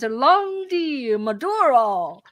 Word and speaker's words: Landi Maduro: today, it's my privilege to present Landi Maduro.